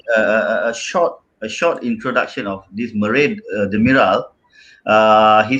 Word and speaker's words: Merih: Yeah, actually, his name is not spelled like that, right? It's Merih. H. Oh, okay. There's no A. Yeah, so quite difficult. so Turkish, man. Mariah Carey, bro. Yeah, Mariah so- Carey. It's Murray.